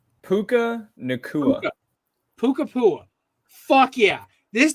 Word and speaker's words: Nacua: How do you pronounce this receiver's name? Puka Nacua.